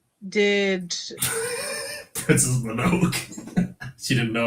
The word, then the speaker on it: Mononoke: Callum says Princess Monaco did. Princess Mononoke. She didn't know how to pronounce it at the time.